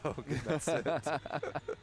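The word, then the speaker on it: Hoag: but even then like his name in French is is it's almost it's Oak oh yeah great where is it English Hoke like you actually whereas in French you just don't really pronounce the h it's just Oak sure I didn't really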